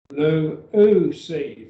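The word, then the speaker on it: λύουσι: Lu-u-si, three syllables, lu-u-si, lu-u-si.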